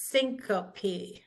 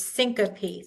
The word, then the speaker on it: syncope: When we have an E or an ES on the end of a word as the final letters, E or ES, we pronounce them, ES right there, two together, and the E. We pronounce them as separate syllables. So this is syncope, not syncope. It's syncope, 3.